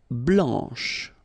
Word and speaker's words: blanc: Blanc, blanche. Okay, so I wanted to put for each color the masculine form here and then the feminine form here. Okay, so here masculine, blanc, don't pronounce the final C, and then blanche.